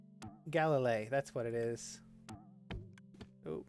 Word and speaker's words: Galilie: How do I pronounce this character's name? Galilie.